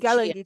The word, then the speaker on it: Gullah: Gili Gulchi, The Gala and yes, Geechee and Gullah.